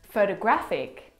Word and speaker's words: photographic: The third example photographic the stress is on the third syllable.